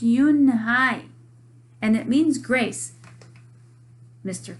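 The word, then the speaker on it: Unhei: Your name is Un-hee? He asked her with his eyes open wide. Uh-oh. Yunhai looked quickly at Mr. Kim, then turned to Joey. She nodded slowly. Yes, it's pronounced Yunhai, and it means grace, Mr.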